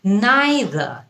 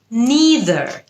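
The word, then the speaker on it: neither: নিদার আসলে দুটোই correct নাইদার এটা হচ্ছে ব্রিটিশ উচ্চারণ নিদার এটা হচ্ছে আমেরিকান উচ্চারণ আই উইল নিদার হ্যাভ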